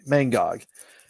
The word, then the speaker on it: Mangog: but i feel like i keep mispronouncing that the villain that's possessed muller and i want to make sure i get the mangog and basically mango just